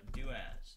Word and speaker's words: doas: everyone today I'm going to tell you about daaz spelled like that it is a command similar to